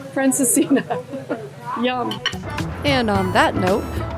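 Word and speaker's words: Francesinha: Portuguese Francesca. No, Fran, how do you say? Francesca. Franciscina.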